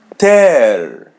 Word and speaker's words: ter: Ear ear verb to have ter as you see the letter e is pronounced as e and the letter r is as English r ter.